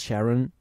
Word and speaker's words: Sharon: Two syllables, Sharon.